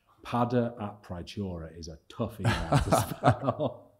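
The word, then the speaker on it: Peadar: my other co-founder padda whose name is pada so Irish p-e-a-d-a-r pada a prichiora is a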